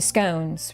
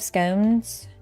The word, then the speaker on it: scone: The scones, right? We have scones. We pronounce them scones, but like scon. I've heard people call them scon.